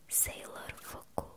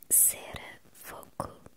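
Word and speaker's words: セーラー服: Nascia o hoje tão conhecido Sailor Fuku, Sera Fuku na pronúncia dos japoneses.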